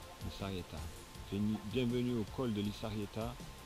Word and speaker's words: Lizarrieta: Alors ça s'écrit Lizarrieta, mais c'est Lizarrieta, ça se dit un S. Le Z en Espagne, enfin au Pays Basque, ça se dit S. Lizarrieta.